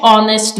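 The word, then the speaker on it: honest: का इजाफा करें डैश ऑनेस्ट गर्ल अब हमने ऑनेस्ट के बारे में पढ़ा कि इसमें एच साइलेंट है तो हम ओ को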